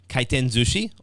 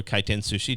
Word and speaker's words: Kaiten Zushi: Zushi or Kaiten Sushi, depending upon how you want to pronounce it. For me, I in fact I used to live in Japan. I lived there for 8 years as an English teacher. So I would pronounce it Kaiten Zushi because it's a lot easier rolling off the tongue.